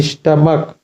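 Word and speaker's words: stomach: कि यह पॉइंट है यानी जब सीच का प्रोनंसिएशन यानी उच्चारण का होता है यहां पर देखो स्टमक स्टमक तो इसको सीच को क्या पढ़ेंगे का पढ़ेंगे स्टमक तो क्या होगा स्टमकस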